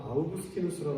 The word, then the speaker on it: 아우구스티누스: 한국 교회에 원래 영어 발음으로 소개가 됐기 때문에 어거스틴이라고 하면 대부분 다 아시고요. 요즘은 이제 원래 라틴어 발음으로 발음을 해주는 추세이기 때문에 이름이 영어로 바뀌었죠. 아우구스티누스라고 하는 사람이고 어거스틴입니다. 어거스틴.